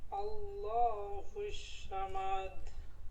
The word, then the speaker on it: الصمد: আল্লাহুস সামাদ। صاد উচ্চারণ হবে, শ হবে না, স স।